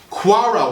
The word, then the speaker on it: kewra: a strain or a Sie orange blossom water quara water now that's spelled k e w r a I'm going